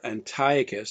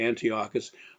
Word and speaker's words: Antiochus: which is Hanukkah, under Antiochus. Some would say Antiochus. I'll call him Antiochus, which is, I think, the normal pronunciation.